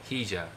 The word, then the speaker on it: Higa: My name is Higa in Japanese. Fija is Uchinaguchi. The sound fi is used in the language of Shuri, and Naha. In the countryside, Higa will be pronounced as Hija. I'm not sure if I'm pronouncing that right. Since I'm using the language of Shuri and Naha in my performing arts, I prefer Fija over Hija.